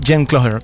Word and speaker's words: Jen Cloher: It's correctly pronounced Jen Cloher.